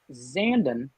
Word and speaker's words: Zandon: Lean Zandon, like Brandon. That's how I learned how to pronounce it.